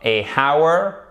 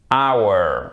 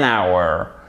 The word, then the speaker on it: hour: Il existe quelques mots, dont ces deux-là en anglais, qui commencent par un H et dont le H n'est pas prononcé. Donc, on ne dit surtout pas a hour, non, on dit hour.